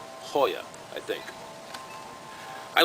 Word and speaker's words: Goya: it's lunchtime hoya sardines spelled g-o-y-a goya but pronounced hoya i think i like